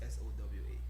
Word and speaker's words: Sowa: So my name is pronounced Sowa. It's not S-O-U-R, it's S-O-W-A. Sowa.